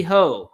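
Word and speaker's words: Heaux: one's called the cheesy hoe which they spell it h e a u x like bow I guess or it's some sort of French thing the cheesy ho in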